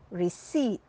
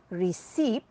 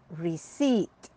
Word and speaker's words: receipt: the second word is receipt not recep but receipt here the p is silent try